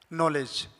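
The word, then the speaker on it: knowledge: इसे पढ़ेंगे no knife night नॉलेज। तो यहां पर के साइलेंट है क्योंकि के तुरंत बाद एन आया और एन के बाद वोवेल है।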